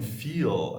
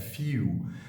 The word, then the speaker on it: feel: Instead of saying feel, I said few, which is the dark L.